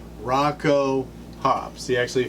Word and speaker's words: Rakau: try is Rocco Hobbs he actually said it's pronounced like this Rocco Hobbs he actually phonetically